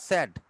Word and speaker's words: said: সেইড না মা, কথাটা সেইড না, স্যাড, স্যাড। সেইড কোন উচ্চারণ, শুদ্ধ উচ্চারণ নয়।